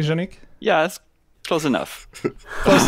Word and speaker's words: Janic: I say that correctly janique yeah that's close enough close enough can you say it for people so that we get the right pronunciation with my best French Canadian accent it would be Janik okay yeah I I